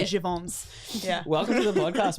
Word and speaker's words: Jeavon: People Is say it- Jeavon's. I say it's Jeavon. Is it actually Jeavon's?